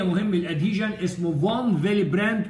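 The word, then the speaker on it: von Willebrand: فنص فاكتور 8 مهم الادهيجن اسمه فون فيليبراند، تنطقها الدبليو في لانه هولندي، فون فيليبراند فاكتور.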